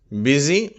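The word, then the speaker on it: busy: யூ என்ற உச்சரிப்பு கொண்டவை அடுத்தது எட்டாவது விதமான உச்சரிப்பு ஈ என்று சொல்லி எழுத்து யூ தான் யூ என்ற எழுத்து தான் ஆனால் கொடுக்கும் உச்சரிப்பு ஈ என்ற உச்சரிப்பு அதற்கு உதாரண வார்த்தைகள் பிஸி மினிட் அந்த மினிட் என்ற வார்த்தையிலே வரக்கூடிய யூ என்ற எழுத்து இ என்றுதான் உச்சரிக்கப்படுகிறது 500 இம்பரேட்டிவ் சென்டன்சஸ் 500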